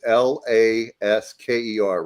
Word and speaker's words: Lasker: But it sounds like some redneck that would like try to pronounce Alaska, the state, is the way I always think of.